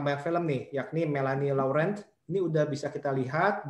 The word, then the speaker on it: Laurent: Harusnya tadi bukan Melanie Laurent ya, tapi harusnya Laurent.